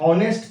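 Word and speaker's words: honest: इसको पढ़ने क्या है ऑनेस्ट तो नहीं पढ़ने हैं उच्चारण में बच्चों वावेल साउंड ए रहा है उच्चारण में ऑनेस्ट का इसलिए यहां पर एन का प्रयोग होगा पॉजिटिव डिग्री से पहले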